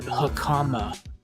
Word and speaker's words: hakama: It was caught in the pleats of my samurai pants, or hakama. It's pronounced Hakama.